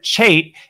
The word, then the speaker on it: Chate: I'm joined by Chate and I'm going to remember that forever because you're Aussie and you said it rhymes with mate so I I guess